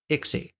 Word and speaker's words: ICSI: for intracytoplasmic sperm injection icsi sometimes pronounced ixie and it's used for